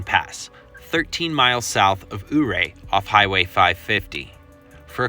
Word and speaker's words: Ouray: Ouray, it's properly pronounced Ouray, Colorado. It's a very popular pet peeve with folks from the area, and I just want to say, hey, sorry for mispronouncing it, and moving forward, hooray for Ouray.